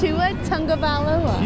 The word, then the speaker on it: Tua Tagovailoa: I can't pronounce this name. I'm Batman. You know this guy's name? Of course I do. It's Tua Tagovailoa.